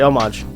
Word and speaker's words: homage: The British say homage.